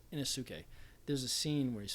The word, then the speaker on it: Inosuke: I can't pronounce the names. So it's Inosuke. Inosuke.